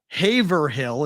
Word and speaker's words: Haverhill: __ ] wrong friendly of course we say things like Haverhill as Haverhill in things like what did you just say that again Haverhill is how you spell it it's Haverhill okay we just ignored like six letters in a word Worcester ever